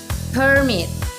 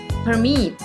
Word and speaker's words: permit: For example, the word permit can be stressed on the first syllable, permit, to function as a noun, or on the second syllable, permit, to function as a verb.